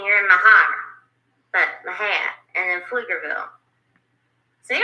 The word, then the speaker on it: Mexia: What it says is Mexia, but how you say it is Mahia. Mahia.